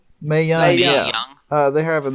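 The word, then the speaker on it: Mae Young: The Mal Young. How you say her name? May Young.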